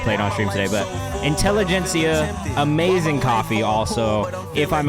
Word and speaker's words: Intelligentsia: Intellihista, and I think it's Intellihista. I never know how to say this. Intellihista. Oh no, Intelligentsia coffee. Also phenomenal.